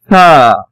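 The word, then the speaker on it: ث: How Tha is pronounced? Touch your tip of tongue with edge of rabbit teeth. Tha. You know, it is a soft letter.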